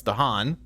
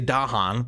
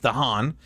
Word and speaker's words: Dahan: presence and Dahan although I read a YouTube comment that said I'm pronouncing this wrong word wrong it's danan I say Dahan but it's danan if the land has